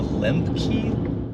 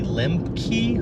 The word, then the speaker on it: Lembke: and who's speaking is dr anna limkey l e m b k e limp key i think that's how you pronounce it sounds familiar yeah